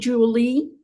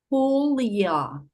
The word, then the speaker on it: Julia: Hi, Julie. A Julia no le gusta como dicen su nombre, le suena a lluvia. Es con J, recalca, y pronuncia su nombre despacio, exhalando un leve soplido. Julia.